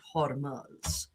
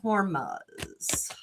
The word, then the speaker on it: Hormuz: Um, but the straight of Hormuz Hormuz I think is the correct pronunciation.